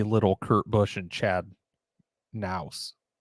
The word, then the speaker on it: Knaus: It's from 3 months ago, and it says Jamie Little, Kurt Busch, and Chad Knaus. Knaus. You pronounce the K.